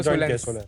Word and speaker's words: Solnce: Ma'am solar और alliance को join किया तो सोलेंस।